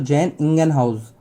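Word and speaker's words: Jan Ingenhousz: लेकिन इसका अगर पूरा प्रोनाउंसिएशन करोगे तो जैन इंगेनहाउस।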